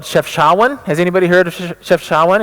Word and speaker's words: Chefchaouen: is another City right it's not it's not Jeff chuan it's chefchaouen he took me to